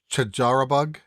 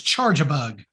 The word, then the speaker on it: Charjabug: I know this is your PokéMinute, but did you just mispronounce the name of a Pokemon? I don't think I ever said these you did out loud. You did. Before. It's Charjabug. Charjabug.